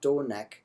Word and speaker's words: donec: So, for example, very first word in this piece of text is pronounced donec with the short that next syllable has a short e in it, so that needs to be pronounced short. It doesn't matter that in meter it's measured long, it's still not pronounced neg.